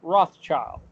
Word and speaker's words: Rothschild: there to call it the Red Shield Firm, which pronounced in German is Rothschild.